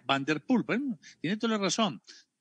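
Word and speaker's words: Van der Poel: el señor jorge barrios que se pronuncia vanderpool pan tienen toda la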